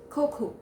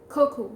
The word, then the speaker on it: cocoa: let's see the fifth word and that is cocoa cocoa so what is cocoa it is a powdered